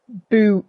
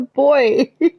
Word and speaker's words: buoys: Boo. Buoys. Look, I understand that Americans say things differently to us. But I have never in my life heard buoys. I have never heard buoys before. It's a boy.